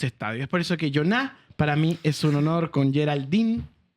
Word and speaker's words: Iona: Porque yo diría Jona, pero es Joná.